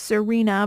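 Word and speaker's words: Xirena: great of a brand it is it is pronounced Serena but if you guys are just listening and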